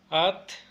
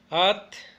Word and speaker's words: atl: Bueno, recalco, en mi variante no pronunciamos la L, el T, digamos nada más hasta T. Entonces agua sería at, at, mujer sería siwat, siwat,